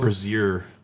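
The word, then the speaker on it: Brasil: I don't know if you knew that, but that's how they say Brazil in Portuguese. Brazil. It's like IU at the end. Bru Bru.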